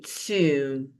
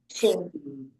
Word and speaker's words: tomb: So tomb and womb rhyme.